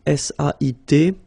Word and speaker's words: sait: Here you write it S-A-I-T, okay, but then phonetically these three forms are the same, and it's sait, okay?